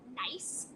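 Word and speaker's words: gneiss: rock this is called nice it's spelled with a g um but it's said like the word nice like nice is a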